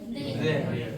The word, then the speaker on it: there: बताया ना thank U टी एच का जब आप उच्चारण करते हैं तो हमारा हल्का सा क्या करेंगे हमारा जो टंग रहता है थोड़ा सा आउट करेंगे हमारे अपर और लोअर टीथ के बीच में आता है आपका टंग है ना वेयर क्या